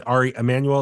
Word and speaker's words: Ari Emanuel: announced that Ari uh oh Brandon am I pronounce Ari Emanuel is I'm pronouncing it right yes yes yeah